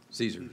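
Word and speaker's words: CESER: and an energy response how do you pronounce that Caesar Caesar yes sir sir you contend that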